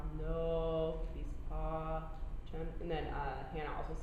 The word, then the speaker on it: pacem: Okay, so it'd be like do na no bis pa chem.